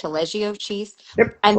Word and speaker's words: Taleggio: Did I pronounce that Mm-hmm. correct? Taleggio cheese.